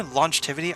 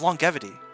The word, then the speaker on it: longevity: longetivity battle against longetivity or I say longivity I'm so stupid it's longevity longevity long long long